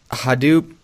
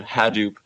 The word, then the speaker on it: Hadoop: It depends on who you talk to. Hadoop is a very common pronunciation. Hadoop is what the project founder calls it, and that's what his son says.